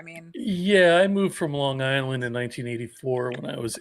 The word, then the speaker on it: Long Island: I know this because you said Long Island and you didn't say Long Island Long Island yes yes you didn't say the hard G you're not alone yeah